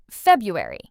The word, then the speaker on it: February: Together, February.